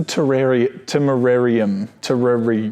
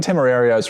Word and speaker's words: Temerario: I think it's the Temerarium. Well, that's where a spider lives. That's where a spider lives. No, I think the Temerario's right. Okay.